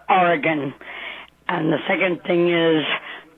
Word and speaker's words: Oregon: Okay, first thing, it's pronounced Oregon.